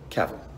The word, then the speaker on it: Cavill: norway and abu dhabi cavill is pronounced like travel travel caval the best way to